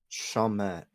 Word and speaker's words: Chalmette: Chalmette.